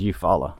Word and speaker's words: Eufaula: word i can't pronounce eufaula you follow you follow she said it was you follow i got that one